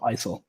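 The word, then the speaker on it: IJssel: e l like jiso this is dutch dutch people have weird ways the same thing so isil is the pronunciation yeah um okay so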